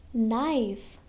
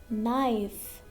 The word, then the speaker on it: knife: Now next, knife. Before N and letter K is the first letter. So knife, knife. Will not pronounce letter K, knife.